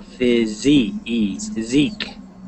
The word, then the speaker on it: physique: So physique. And the S sounds like a Z, like a Z.